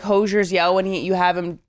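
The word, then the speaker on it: Hozier: Emma, I think you put such moments to it, to like Hosier's yell when you have him like hold the camera.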